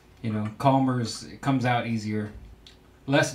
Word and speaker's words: Chalmers: I'm going to go ahead and pronounce that Calmers. It's C-H-A-L-M-E-R-S instead of Chalmers.